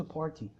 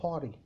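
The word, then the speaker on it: party: فيلم امريكي كلمه بارتي مطقش التي ما قالش بارتي ه فعلا بيقولوها باري باري طيب فاكرين قلتلكم ان التي بتتحول لما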